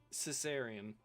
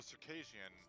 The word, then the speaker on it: Circassian: have a 45-year-old who, Caesarean heritage. Or... Caesarean. CIRCASSIN. IAN. Cis. Is that in the cultures? Maybe. CIR. CASSIAN. Oh, Circassian. That's how it's pronounced, Circassian. Okay.